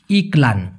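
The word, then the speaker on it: iklan: তাহলে সুবিধা হবে ইলান উচ্চারণটা হবে ইকলান ইকলান মানে কি এডভারটাইজ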